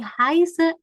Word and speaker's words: heiße: Halo, ich heiße. Ya, kan kalau ada beta ini bacanya berarti double S ya.